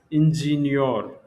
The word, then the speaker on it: Ingenieur: So in German, it will be pronounced as ingenieur.